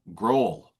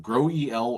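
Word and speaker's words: GroEL: Oh, growl. Not the case. It's not the case. It's called grow eel or grow eel.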